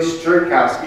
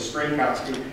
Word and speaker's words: Strynkowski: But so my name is Strynkowski. It's pretty simple. It's 3 syllables of Strynkowski, and I'm the executive chef for Cooking Light magazine.